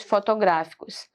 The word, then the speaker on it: fotográficos: Olha só a sílaba mais forte. Fotografo, tá? É diferente de fotográficos. O gra é mais forte, ó. Ela é proparoxítona aqui, ó. E aqui ela é paroxítona, porque o gra é mais forte aqui, ó.